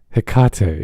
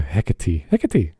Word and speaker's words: Hecate: hecate bdsm sexy witch i really don't think that's the normal pronunciation hikato yeah the a is short as well yeah hecate don't use the german